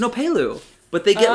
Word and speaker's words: opelu: right what is it i butchered the name it's it's an opelu but they get like